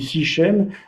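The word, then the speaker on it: Sichem: qu'on prononce en hébreu en français on dit six chaînes mais en hébreu on dit shrem donc qui est une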